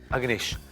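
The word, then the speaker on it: Agnesh: अग्नेश ए जीश ए जी एन ई एस H uncle अब आपको मेरे नाम के स्पेलिंग याद हो गए ना?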